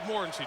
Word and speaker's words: Morency: We asked him yesterday, how do you say your name? And he said, Kirk, you're my witness. Morency. He said Morency to yes.